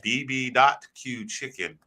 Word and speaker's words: BB.Q Chicken: These wings that I have behind me, they're from a Korean barbecue place called BB.Q Chicken. Most people don't pronounce the dot. I have to, just so people know when you look it up.